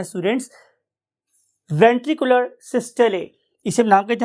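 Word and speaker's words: systole: कि इस particular ventricular सिस्टले की वजह से, अच्छा, बहुत से जो हमारे यहाँ के लोकल कन्वेंशनल लोग हैं वो इसे वेंट्रिकुलर सिस्टोल भी बोलते हैं, but actual pronunciation is ventricular सिस्टले।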